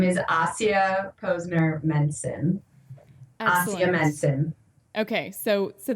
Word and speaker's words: Ahsiya Posner Mencin: usually what stumps people so my name is AIA Posner menson AIA Menon okay so so that doesn't sound